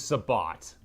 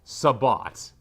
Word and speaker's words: sabot: So, Sabbo versus Sabot. Okay, it is actually pronounced Sabat. Sabo is the French way of saying it and Sabat is the English/Dutch/German way of saying it because Sabat is uh it's shu.